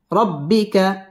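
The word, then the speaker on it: رَبِّكَ: একালিফ টেনে পড়তে হবে র পুর হবে রব্বি বা তাসদীদ ওয়ালা হরফ রব্বিকা ফার র পুর হবে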